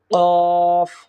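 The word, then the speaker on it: قاف: এরপরে আসি কফ কফ কফ, অর্থাৎ জিহ্বার গোড়াটা উপরের তালুর সঙ্গে লাগিয়ে দিলেই আমরা কফ হরফটি আমরা পেয়ে যাব।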